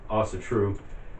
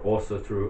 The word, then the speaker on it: Ásatrú: Even though that the words Ásatrú, or Ásatrú, Ásatrú, whichever, again, where, what part of the world you're from, how you pronounce it, it all means that